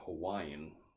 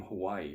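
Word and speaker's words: Hawaiʻi: which is a little it looks like an apostrophe but it's a glottal stop so the name Hawaii for example is actually Hawaii and you sort of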